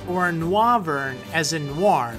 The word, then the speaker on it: Noivern: and 187.5 lb now whether it's pronounced Noivern as in noise or nover as in Noir like